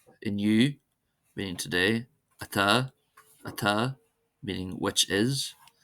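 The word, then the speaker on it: atá: As in any language, of course, there are always some exceptions, and here are some common words that are exceptions, that is, they're not stressed on the first syllable.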